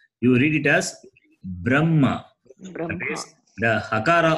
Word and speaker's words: Brahma: This particular combination, in this particular combination, Makara is read first and then Hakara is read. Okay. So therefore, it should be B-R-A-M-H-A. But in the tradition, when Vedic pandits, when they read, when they chant, what they do is, even the H, B-R-A-M-H-A, the H also will become M, B-R-A-M-M-A. That is how they read, they chant.